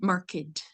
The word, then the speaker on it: marked: And we pronounce it like marked, but that's when it's an adjective. but mostly if it's when it's the verb الفعل, he marked the spot. It's just the D.